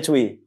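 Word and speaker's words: Tzuyu: twice Cui atau zuyu zuyu tulisannya bacanya Cui dari Taiwan zuu cui cui Oh cui cui kalau cuu cui cui itu sama orang bacanya beda tulis tulisannya cuyu bacanya Cui debutnya I song adalah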